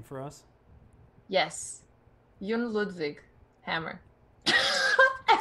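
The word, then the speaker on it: Jon Ludvig Hammer: you do me a solid maybe can you pronounce his name for us yes Yun ludvig Hammer I said the first two trying to pronounce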